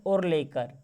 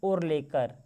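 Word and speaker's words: आर्लेकर: लिखा गया है दोस्तों, ये होगा राजेंद्र और लेकर। ठीक है ना, क्या नाम है? और लेकर। देखिएगा कुछ इस प्रकार से उनका प्रोनाउंसिएशन है यहाँ पर, देखिए और लेकर।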